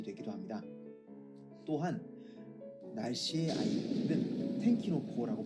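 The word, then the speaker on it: 天気の子: 또한 날씨의 아이는 텐키노코라고 발음되는데, 이는 날벼락, 하늘의 분노라는 단어와 동일한 발음을 가지고 있기도 합니다.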